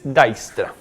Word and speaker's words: Dijkstra: Uno dice así, pero se dice Dijkstra.